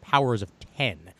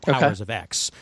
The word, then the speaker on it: Powers of X: he astutely pointed out is actually pronounced powers of 10 not powers of x uh what's going to